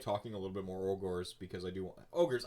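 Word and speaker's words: Ogor: But before we move on to like talking a little bit more ogres, because I do want ogres.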